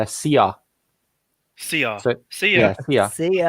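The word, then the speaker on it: szia: It's "sia."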